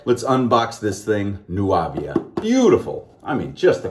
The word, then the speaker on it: Nuàvia: soap and aftershave and it's nuavia nuavia i hope that's how it's pronounced nuavia blue or blue